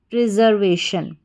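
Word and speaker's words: preservation: आई ओ एन शन फिर से देखिए पी आर ई प्री एस ई आर जर वी ए वे टी आई ओ एन शन प्रिजर्वेशन क्या बन या प्रिजर्वेशन।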